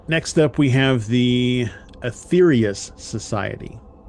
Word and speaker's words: Aetherius Society: All right, next up we have the Aetherius Society. And it's spelled Aetherius, so it's like the old spelling of ether.